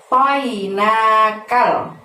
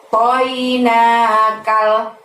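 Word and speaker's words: أعطيناك: Lalu lafaz berikutnya ada a'toinakal. Semuanya pendek kecuali pada saat melafazkan nah di sana ya. Toinakal, seperti itu ya. Toknya yang tebel ya teman-teman, THO.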